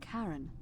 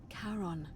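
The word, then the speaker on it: Charon: It's just as you described it, only your pronunciation is a little off. The name you heard wasn't Karen. It was C H A R O N. As in Karon, the fairyman of the dead.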